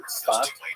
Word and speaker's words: Tzfat: And that is the incredible explosion of spiritual and literary religious activity that occurred in the northern Israel city of Safed, pronounced in Hebrew Tzfat or Tzfas.